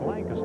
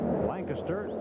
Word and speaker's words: Lancaster: rander Les Lancaster Lancaster that depends on where you hail from Wheels Pennsylvania it's Lancaster I can't get used to